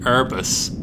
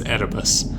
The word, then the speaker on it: Erebus: only ever read before he said herbis instead of what i would pronounce for the last 20 years as erebus as in arabis mountain e3 m6 is